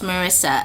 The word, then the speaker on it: Marissa: I pronounced her name wrong before. It's Melissa, but it's Marissa.